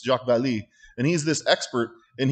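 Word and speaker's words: Vallée: real person jacques vallee we pronounce it ballet but it's jacques vallee and he's this expert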